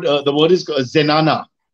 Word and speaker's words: zenana: It's called, the word is zenana. Z-E-N-A-N-A, pronounced zenana in English.